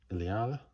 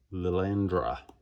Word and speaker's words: Lilandra: Iliada. I pronounced that badly. Lilandra.